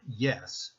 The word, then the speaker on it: yes: When you see the word yes, pronounce it as if it were spelled I-E-S.